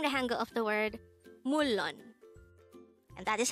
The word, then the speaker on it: 물론: combine the angle for each of these two syllables to form the angle of the word mullon and that is how we write mulon in